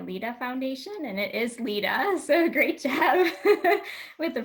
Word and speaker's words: Lida: of the Maria Lida Foundation, and it is Lida, so great job with the pronunciation on that.